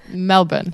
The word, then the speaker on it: Melbourne: of your city yeah so it's Melvin Melbourne yeah that's better that's much better you kind of you